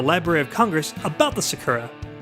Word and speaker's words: sakura: Let me read an excerpt from the Library of Congress about the sakura. And I think I'm pronouncing that right. It's S-A-K-U-R-A, sakura.